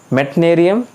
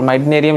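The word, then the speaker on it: Meitnerium: Then मेटनेरियम, मिटनेरियम और माइटनेरियम, जैसे भी आपको प्रोनाउंस करना है।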